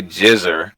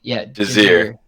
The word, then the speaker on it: Jazir: I just want to say Jizzer, which is just not right. So how do you say your name? Imagine more of like Jazir.